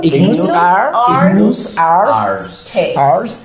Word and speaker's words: Ignus Ars: ¿Lo has pronunciado bien? ¿Cómo es? Ignus Arst.